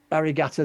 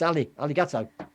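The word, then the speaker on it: ありがとう: Curzendeth, when I did an interview with her, and I went, Arigato Zama. She says, no, it's not an R. I'm putting an R in where it's not. It's Aligato. Right, yeah.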